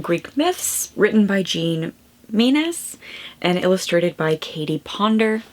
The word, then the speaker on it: Menzies: I am going to work my way through Greek Myths by Jean -- “Mee-nez” I believe is how she pronounces her last name. So I just finished Greek Myths written by Jean Menzies and illustrated by Katie Ponder.